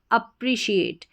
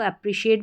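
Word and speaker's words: appreciate: A double P अप फिर है आर इ री अप्री अप्री फिर है कोड हमारा शिएट अप्रिशिएट फिर से देखिए A double P अप आर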